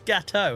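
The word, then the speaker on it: gâteau: That's gateau. It's French. That's gateau. That's how you pronounce a word that ends with those letters in French.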